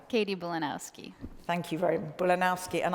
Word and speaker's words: Bulanowski: about connecting people and places we have katie bolonoyski i didn't do that well did i it's okay you tell me your name katie bolanowski thank you very mulinowski and i even wrote